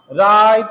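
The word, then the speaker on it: write: अंग्रेजी में डब्ल्यू के बाद आर आने पर अक्सर डब्ल्यू की साउंड बहुत हल्की हो जाती है। इसीलिए उसे बोला नहीं जाता है। मतलब डब्ल्यू का उच्चारण नहीं होता है। जैसे एग्जांपल देखिए डब्ल्यू के बाद आर डब्ल्यू के बाद आर डब्ल्यू के बाद आर डब्ल्यू के बाद आर डब्ल्यू के बाद आर राइट रॉन्ग रैप रीस्ट है ना रेक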